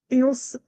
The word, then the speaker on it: Ilse: There are several ways in which I could pronounce this. And I don't want to slaughter your name. sorta? And Mulk from the. So, like, Ilse. Ilse.